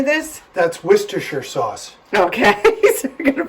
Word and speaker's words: Worcestershire: That's Worcestershire sauce.